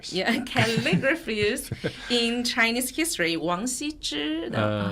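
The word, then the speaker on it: 王羲之: Wang Xizhi, they pronounce in Japanese like Ogishi, wrote its masterpiece.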